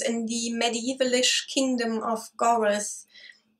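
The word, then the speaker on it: Goredd: the medievalish kingdom of Goroth. I think that's how it's pronounced. It's spelled G-O-R-E-D-D, which reminds me of the Welsh state of Gwynedd. So I'm just assuming that it's pronounced similarly. Anyhow, like I said, humans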